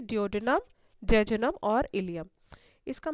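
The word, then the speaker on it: ileum: आपको बता देती हूँ, ये जो वर्ड है इलियम, इसकी स्पेलिंग को बहुत ध्यान से देख लीजिए, क्योंकि इसी प्रोनंसिएशन से मिलती जुलती एक और स्पेलिंग है ILIUM, उसके बारे में आप पढ़ेंगे जब आप बोन्स वाला चैप्टर पढ़ेंगे, लोकोमोशन एंड मूवमेंट। तो ये दोनों बहुत कंफ्यूजिंग है, प्रोनंसिएशन सेम है लेकिन स्पेलिंग में थोड़ा सा डिफरेंस है।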